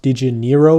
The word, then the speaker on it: Dinero: So the second token they'll actually be launching is actually pronounced Dinero with an E, so Dinero, which before the first one is actually spelled with an A and ARO.